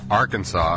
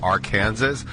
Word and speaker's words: Arkansas: Speaking of which, I watched a 2-minute video last night on why it's pronounced Arkansas and not Arkansas, and if I could get that 2 minutes back, I'd really appreciate it.